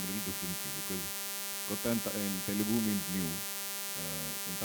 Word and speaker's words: Kotha: guys to tell them it is King of Kotha and not the usual Hindi pronunciation. So in the film Kotha, in Malayalam it's Kotha, it's a fictional town.